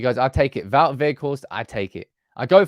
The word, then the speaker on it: Weghorst: In Dutch, you say it like Weghorst, but the G, of course, in England is a little bit difficult. So in my time at Burnley, it was also Weghorst, so that's okay. So I have now got